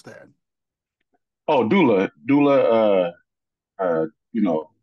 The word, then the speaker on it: doula: wifey does the is it angula how you pronounce that oh Doula Doula uh uh you know they they pretty